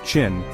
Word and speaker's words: Qin: This unification ushered in the Qin dynasty, pronounced Chin, a pivotal moment in Chinese history.